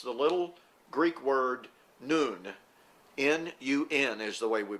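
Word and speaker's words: νῦν: And it's the little Greek word nun. N-U-N is the way we would spell that.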